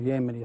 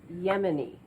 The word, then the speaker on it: Yemeni: cooperation i'm to expect it's yemeni not yemeni can you say that yemeni i think the people here might appreciate it if you could pronounce the name of their country properly pardon me i'm sorry